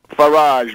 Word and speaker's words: Farage: Farage rhymes with garbage.